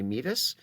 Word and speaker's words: meatus: later but it looks like it might be pronounced urinary meatus it's actually pronounced me at us and we'll